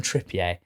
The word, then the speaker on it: Trippier: And Wolves have signed Kieran Trippier and Raul Jimenez. We've been through this on the England pod. Trippier.